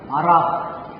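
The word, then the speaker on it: בָּרַךְ: 바락. 이게 흐가 완전히 가래침을 했듯이 이런 발음이에요. 바락. 이런 발음입니다. 그래서 K루스 그러는데 K는 아니지만 크와 흐와 그 사이에 바락 이런 발음이에요.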